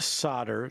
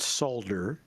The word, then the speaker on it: solder: It's pronounced solder, not solder.